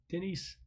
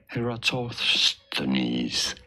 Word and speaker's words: Eratosthenes: the other thing is the sieve of Denise. I always say it wrong. So let me. Denise. Okay, let's see. We are looking at how to pronounce this name as well as how to say more. Oh, jeez. Just tell me. Essentially a polymath. How do you say it? Eratosthenes.